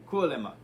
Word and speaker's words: Kuolema: Kuolema.